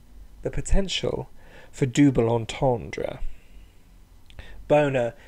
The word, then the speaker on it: bona: potential for double entendre Bona sounds like the word boner which as I'm sure